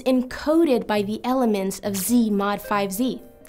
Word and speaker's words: Z/5Z: It's a quotient set, which we label Z/5Z, pronounced Z mod 5Z.